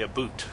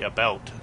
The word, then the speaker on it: about: Then why did Canadians say a boot? We don't. Americans say Canadians say a boot. We say about, just like you're supposed to.